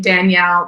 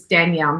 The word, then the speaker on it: Danielle: are just my name Danielle Chason you can Google it find me uh Chason is spelled c h i a s s o n and it's Danielle not Daniel so d a n